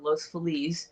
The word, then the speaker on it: Los Feliz: Park, they also owned Los Feliz, or Los Feliz, depending on whether you're from California or not, because we mispronounce everything.